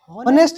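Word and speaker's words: honest: इसको क्या पढ़ना है हमें? ऑनेस्ट नहीं पढ़ना है। अगर तुम इसे ऑनेस्ट पढ़ोगे तो ये क्या हो गया? व्यंजन। उच्चारण ही गलत कर दिया तो ए लगा दोगे। लेकिन इसका उच्चारण क्या होता है? ऑनेस्ट। अ से उच्चारण होता है।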